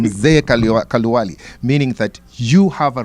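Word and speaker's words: Mzee Kaluyu: Being Mzee Kaluwali, that's the correct pronunciation, Mzee Kaluwali, meaning that you have a responsibility.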